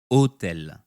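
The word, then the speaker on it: hôtel: not spoken for example for the French word otel the H at the beginning is silent so in the IPA otel will be written as as otel omitting the silent h the French phonetic alphabet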